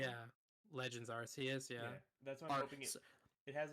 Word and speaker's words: Arceus: of arceus or what's it called yeah legends arts he is yeah that's part it has like sorry legends are chaos that's official pronunciation or whatever i'm hoping it's like a